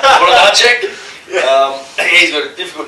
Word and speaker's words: Włodarczyk: Włodarczyk.